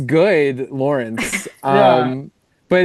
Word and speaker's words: Lorinc: And it's Lawrence. I've been mispronouncing it this whole time. Yeah, well, you know, people say it both ways. My dad says it both ways. It should be Lawrence. It's not spelled that way.